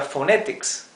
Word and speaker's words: phonetics: en inglés la pH la combinación de consonantes pH se pronuncia como la f nuestra o sea esto es phonetics phonetics o la palabra Philadelphia Philadelphia en inglés se se escribe con una pH al principio la segunda es una una F en Filadelfia ahí sí tenemos una F pero empieza con pH o sea pH es igual a f el sonido o u